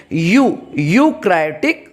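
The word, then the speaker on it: eukaryotic: ध्यान दीजिए यहाँ पे, यहाँ जो ई है वो साइलेंट है, उसका प्रोनाउंसिएशन नहीं करेंगे। यूकैरियोटिक cell.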